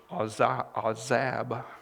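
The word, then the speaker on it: azab: nor forsake you is a zab i think is how you say it a w z a b is the transliteration so he's not going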